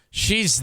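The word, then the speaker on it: Hsheih: And she would spell, her name was H-S-H-E-I-H. Pronounced she.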